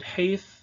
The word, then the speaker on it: Het: One feature of Proto-Hebrew, at least up to some point in time, is that this letter, which today is called Chet, I would pronounce it Heith in the Tiberian tradition, had two different, or it represented two different phonemes, namely Ha and Cha.